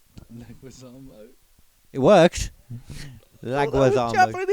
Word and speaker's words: Leguizamo: Because when I read that thing down earlier, you was on about that John Laguazamo. Yeah. I had to do phonetically. Leguizamo.